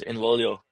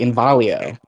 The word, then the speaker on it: Involio: like how can somebody mispronounce Involio? Even people who invested in us were mispronouncing it. Like Q Banks and Anthony Williams invested in us, and he was saying it like Invalio, and people Yeah.